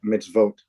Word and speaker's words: mitzvot: vat okay very close but remember this o makes an o sound so if you vote oh mitzvote there we go meets